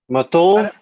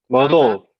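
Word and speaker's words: Mvto: Matov? Mado. Matov? Mado. Mado. Mado. The T is a D.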